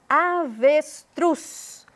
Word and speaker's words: avestruz: uma ênfase no bem avestruz Cruz foi o que eu pronunciei com mais ênfase batom O Tom é